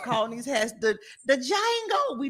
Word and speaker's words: Django: these hats the the Jango we not call those Django hat no it's not Django the D is silent that's what he said